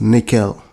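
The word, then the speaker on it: N1QL: The last one I'll be talking about is NoSQL, pronounced nickel.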